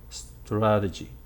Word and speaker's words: strategy: And the vowel after the T is not a long one, it's just a schwa, strategy.